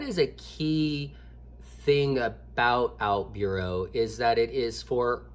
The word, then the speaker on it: OutBüro: brand one let me just say it is pronounced out Bureau Bureau with the umlaut which is the two